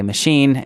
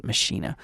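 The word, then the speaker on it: Maschine: why saying machine oh that's actually how it's pronounced I know most people say machine and it makes me feel weird to hearing it pronounced machinae alright anyway I have a couple kits pulled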